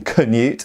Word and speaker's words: Canute: And then of course we know that people like Canute, who conquered England, Knut I believe it's pronounced in Danish rather than Canute as we say in England and America, and